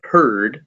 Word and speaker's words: herd: Beware of herd, a dreadful word, that looks like beard and sounds like bird.